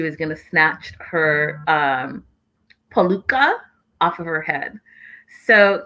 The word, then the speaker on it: peluca: Yeah, it's a peluca.